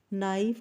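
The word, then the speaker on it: knife: नाइफ का K silent और right का G साइलेंट लेटर है।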